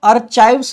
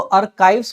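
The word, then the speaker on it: archives: ध्यान दीजिएगा, इसको आर्चाइव्स नहीं पढ़ेंगे, इसको आर्काइव्स पढ़ते हैं। यहाँ पे CH का जो प्रोनाउंसिएशन है वो क होता है, ना कि च।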